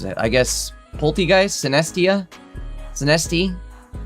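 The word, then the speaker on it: Sinistea: Sinesti? Poltegeist and Sinesti, I think it's pronounced. Sinesti and Poltegeist. I believe I was saying it wrong yesterday. I think I was saying Sinestia.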